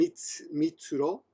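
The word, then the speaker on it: 三: The third number was named Mitsuro. Mitsuro, I think. Mitsuhiro. Anyway, Ichi, Ni can be pronounced as Futa as well, so they change it. And San can also be pronounced as Mitsu, so Mitsu.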